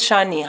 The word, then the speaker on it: Shani: My mother always calls them Shawnee Johnny. How is Shawnee Johnny? I'm like, her name's Shani. Shawnee.